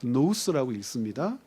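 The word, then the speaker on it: νοῦς: 노스 이거 노스라고 읽습니다.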